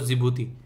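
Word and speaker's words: Djibouti: है लुटेरा सोमालिया और जिबूती जिबूती में यहां पर डी साइलेंट है इसलिए इसको बोलते बोलते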